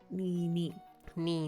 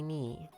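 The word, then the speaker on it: に: a ton of words in japanese that use knee as a sound um and it's just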